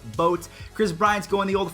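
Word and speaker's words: Bote: to say his name it's not bode it is boats Kris Bryant's going the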